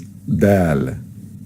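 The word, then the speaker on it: دال: world harlot it's Amy the next is dal dal then is pronounced as Dee or dead and it's equivalent is of course the letter D in English like in the world do now this letter is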